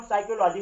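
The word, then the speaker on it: psychology: है, तो यहाँ पे पी क्या हो गया, साइलेंट हो गया। इसको हम साइक्लोलॉजी पढ़ रहे हैं।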